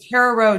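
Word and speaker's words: Carraroe: asking um there there's a car Ro jig as I would say that would that would be my my one although it's not spelled spelled it's spelled c a r r a r o e I think but yeah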